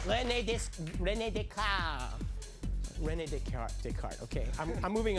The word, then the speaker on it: René Descartes: Rain Descartes. Oh, yes, but boy, you mangled that pronunciation. You should have said René Descartes.